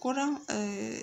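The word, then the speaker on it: كرة: So what about Kura? As you can see here, it's a short O sound for the Dhamma.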